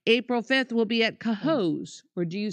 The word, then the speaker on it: Cohoes: April 5th, we'll be at Cohoes. Or do you say Cohoes?